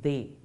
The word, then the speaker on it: des: But les, de and les will combine and give us des, pronounced as they.